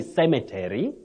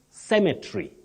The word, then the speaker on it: cemetery: We don't say cemetery. Okay. You don't say cemetery. You say cemetery. Okay. Cemetery. The E, which is the last one, is not pronounced.